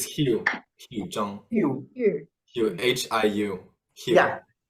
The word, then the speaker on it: Hiu Joong: Oh, but it's Hugh Zhang.